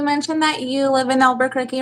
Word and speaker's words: Albuquerque: I had them all saying it wrong now, but they told me it was Albuquerque.